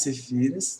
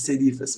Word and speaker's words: serifas: Então, isso aqui são as cefíras, se eu estou pronunciando correto, as serifas, perdão, as serifas.